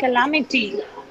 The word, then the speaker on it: calamity: Calamity. Calamity. Now you pronounce it with the proper stress. Calamity. Calamity. Yeah, calamity. Don't say can. Calamity.